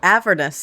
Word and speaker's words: Avernus: Oh, Avernus.